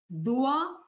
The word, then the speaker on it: Dua: say du this the reason I wrote Because pronunciation is so wrong and we don't understand the words it is Dua Dua N N means intention Dua means prayers